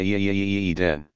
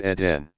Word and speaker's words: Eden: Might not sound foreign at first, but in the US people say Eden. It's Eden.